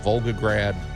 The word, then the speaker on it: Volgograd: and it's in uh Vogue how do you pronounce it Volgograd uh Russia yes and um it commemorates the